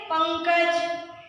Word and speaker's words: पंकज: तो जब भी हम लोग अनुस्वर का उच्चारण करते हैं, ये हमेशा नाक की तरह होता है, जिसे हम लोग नाक से बोलते हैं, जैसे पंकज, पंखा।